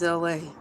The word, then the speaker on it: Elay: My name is Elay. Pronounced like LA, like the city.